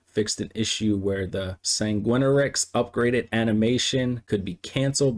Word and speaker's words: Sanguinarix: Fixed an issue where Pieta's animation would not play when upgrading the Sanguinarix. Yes, that's how you pronounce that.